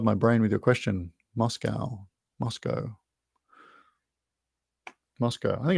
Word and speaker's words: Moscow: a russian spy honest americans say cow uk says co that helps me not